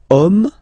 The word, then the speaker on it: homme: And then here we've got the word homme, man, okay, but then it starts with H, as in French H is not pronounced, so the first sound that we hear is O, okay,